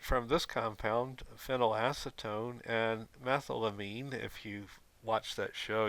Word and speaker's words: methylamine: this compound phenylacetone and methylamine if you've watched that show you'll see it here at mispronounces Mithila mean but no no real chemists would pronounce it any way except methylamine however the methamphetamine that